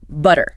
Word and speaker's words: butter: Like in like in butter. Americans often say D. Hear that? Butter. Yeah. Definitely sounds like a D and the British way. In British English, they tend to keep a much clearer, crisper T sound. So butter is butter. You hear the puff of air with the T.